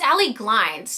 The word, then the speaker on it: Glines: Did I say her name wrong the whole time? It's Allie Glines.